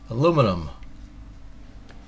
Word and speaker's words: aluminum: a very common element in america we pronounce it with three syllables in britain they pronounce it with four syllables or five maybe even